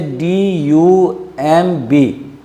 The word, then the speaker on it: dumb: For example, if you say DUMB, it gives the sound of dumb. Dumb is proper sound and dumb is not proper sound.